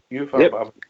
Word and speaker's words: UEFA: Aye, those scenes when we come back for that UEFA, have I pronounced that right? UEFA, yep.